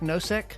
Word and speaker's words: Nosek: Nosek? Perfect. Yeah, that the U is actually unpronounced in that. Oh, so it's Nosek, not no sex, but no sec.